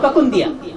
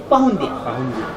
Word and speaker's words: پکندیا: دراصل تلفظ صحیح تلفظ ہے پکندیا، لیکن جب آپس میں بات چیت کرتے ہیں تو کہتے ہیں پہندیا.